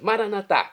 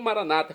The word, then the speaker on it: Maranata: Maranatá, como dizemos nós católicos, ou maranata, como dizem nossos irmãos separados, os evangélicos ou protestantes. Não importa a pronúncia, o significado é o mesmo.